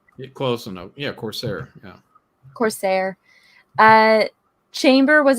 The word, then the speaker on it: Corsair: i don't know how to say this name corsier mm-hmm huh did i pronounce his name correctly close enough yeah corsair yeah corsair uh chamber was associated with what